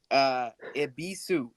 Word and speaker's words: Ebisus: Ibisu.